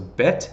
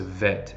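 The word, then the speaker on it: בּ: that it tell you that it's meant to me a harder sound so bet as opposed to vet and so this chart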